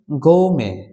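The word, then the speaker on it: gourmet: এপিউয়ার এর সিনোনিম হচ্ছে গোমে গোমে বা ফুটি ওকে গোমে অথবা ফুটি এখানে টি এর উচ্চারণ হবে না তো আজকের যে ভিডিও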